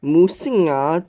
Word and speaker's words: 魔神仔: dehydration and hunger instead the name musina derives from its Taiwanese pronunciation according to folklores musina